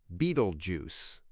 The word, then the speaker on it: Betelgeuse: The bright red star above the belt denotes his armpit and is called Betelgeuse, pronounced Beetlejuice.